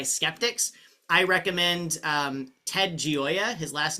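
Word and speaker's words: Gioia: who are AI Skeptics I recommend um Ted gooya his last name is spelled g i o i a and I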